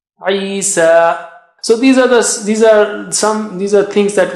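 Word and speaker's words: عيسى: Similarly, Isa, Isa.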